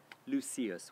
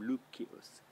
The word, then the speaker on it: Lucius: name was lucius tarquinius lucius we say in english but he would have pronounced his name lukkius so lucius tarquinius very